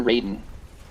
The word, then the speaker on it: Raiden: grew up on Japanese it's Ryden because that's the way it's pronounced in Japanese gotcha we lost this